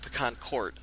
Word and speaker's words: PecanCtMichael: And I pronounce it Pecan Court because a long time ago used to live on a street called Pecan Court.